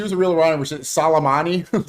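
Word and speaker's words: Soleimani: If she was a real Iranian, she Salammani, say it like an Italian. Salmani offtheed him because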